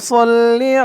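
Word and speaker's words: صَلِّ: আল্লাহ আল্লাহ বলতে হবে আল্লাহ অনেকে বলে আল্লাহুম্মা সাল্লি আলা এরকম করে বলে তো এরকম করে বলা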